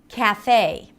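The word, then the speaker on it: café: Cafe. Same thing. Cafe. Not cafe, but in American English. Cafe. Right? So you drag it.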